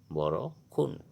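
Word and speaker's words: বৰষুণ: का समय अर्थ होगा बोरो खून बारिश का समय अर्थ होगा बोरो खून उच्चारण बोरो खून जरूरी जरूरी मतलब लायाल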